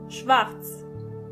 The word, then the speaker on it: schwarz: Black means schwarz, schwarz. As you can see, the letter R is not pronounced as R, but more like R.